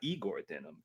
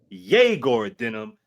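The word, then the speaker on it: Egor Dëmin: we did on uh his name is not Eigor Denim. It is how you pronounce it. Yor Denim as well as um Danny Wolf.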